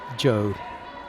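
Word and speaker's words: Zhou: Z H O U is Joe.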